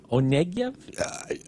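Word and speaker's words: Onegin: Onen. Onen. Right. Looks look looks like it's spelled one.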